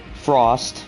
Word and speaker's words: Frost: Lon Spurgeon okay dearis Frost not fru it's Frost zon okay all right